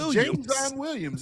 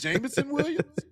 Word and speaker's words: Jameson Williams: James Williams. It's Jameson Williams.